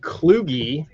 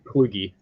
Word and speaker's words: Kluge: My name is Aaron Kluge. It rhymes with loogie. Some people say like Kluge, Klug, but it's Kluge.